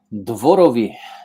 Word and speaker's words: Dworowy: and to be here okay so I I butchered your last name how do you say your last name dvorovi easy that's exactly what I was gonna say